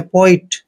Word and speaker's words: poet: P का उच्चारण पे करते हैं, O को ओ की मात्रा पढ़ते हैं और E को ई लिखेंगे और T को टे पढ़ना है। पोइट, पोइट मीन्स होता है